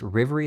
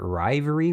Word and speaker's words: Rivery: Now, that Rivery name is pronounced Rivery. That's how normal people would probably read this and so that's how they pronounce it to everyone.